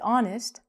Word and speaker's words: honest: And that's really confusing because for example, a horse, we say the H, but some words like honest, we don't say honest. The H is silent.